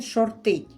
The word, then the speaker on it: шортить: який грає на зниження говорить що він шортить наголос на останній склад поки інвестор не викупить